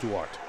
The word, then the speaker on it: Duarte: Duarte. That's how you say it, Duarte.